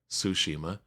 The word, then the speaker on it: Tsushima: Ghost of Tsushima, I gotta say it correctly, Tsushima, 1.8 million, 29% digital, 50% America, 38% in Europe, 13% in Japan.